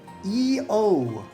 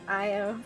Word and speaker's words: Io: And he goes, Oh, alright, one tall glass of water for EO. it's pronounced Io, thanks. I-O.